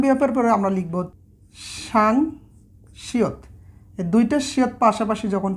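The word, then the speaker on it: 쌍시옷: আচ্ছা, সাং বিয়পের পরে আমরা লিখব সাং শিয়ত। এই দুইটা শিয়ত পাশাপাশি যখন থাকে যুক্ত হয়ে তখন এটার উচ্চারণটা হচ্ছে সাং শিয়ত, সাংশিয়ত।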